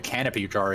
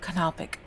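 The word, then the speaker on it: canopic: I mean, I still don't know what a canopy jar is either.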